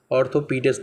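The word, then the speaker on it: orthopaedist: थप ऑर्थोपेडिस्ट थप ऑर्थोपेडिस्ट ऑर्थोपेडिस्ट बोलेंगे इसको थोपी ऑर्थो पडिस्ट अब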